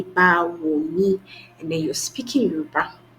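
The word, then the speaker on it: Báwo ni: But for now, even using the pronunciation, you're able to say Bawoni, and then you're speaking Yoruba.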